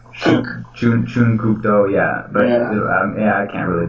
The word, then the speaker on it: Chun Kuk Do: And yeah, whenever I try to pronounce like Chuck Norris's martial art, I always thought it was Chung Kuk Do, and it's like Chun Kuk Do, yeah.